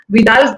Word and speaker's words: Vidal: Vidal, I hope I'm pronouncing it right. Yeah, it's right. Is it Vidal? Correct, Vidal Sasa, and she's done masters in hairstyling there.